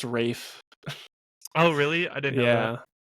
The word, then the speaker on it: Ralph: It's spelled Ralph. It's pronounced Rafe.